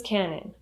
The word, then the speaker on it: cannon: say he's a loose cannon or she's a loose cannon. Loose cannon. When you say the word cannon, the stress is on the first syllable and the second syllable has a schwa sound.